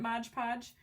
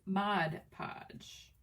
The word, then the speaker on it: Mod Podge: mod i think i used to call it modge podge and then i don't know i think one day i was like never really looked at the bottle and i realized i had been saying it wrong for like ever but it is mod podge too funny so you're